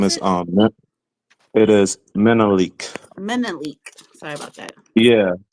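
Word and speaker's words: Menelik: I'll pass um so I'll go to um manelic did I say it right um yes um my name is um it is menik menik sorry about that yeah like the Emperor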